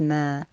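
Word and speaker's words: ما: dash linked to a vertical line and it's pronounced as mer please remember what this looks like and look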